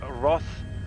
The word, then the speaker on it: Roth: i could never get it right okay it's roth it's r o t h oh okay okay